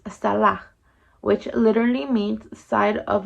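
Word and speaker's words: צלע: rib is referenced as Hebrew 6763, which is pronounced salah, which literally means side of a person or figuratively of an object.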